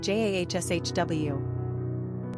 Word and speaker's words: Joshua: Pronunciation, Jahshw.